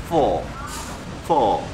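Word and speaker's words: phở bò: 베트남 하면 퍼보 F 발음 정확하게 그랬거든 선생님이.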